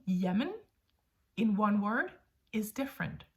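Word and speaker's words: jamen: even spell it differently we would go Yemen as in one word one word Yemen j a m n Yemen Yemen is used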